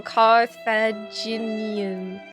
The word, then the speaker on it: Carthaginian: Not sure, but I think the G belongs in the next syllable.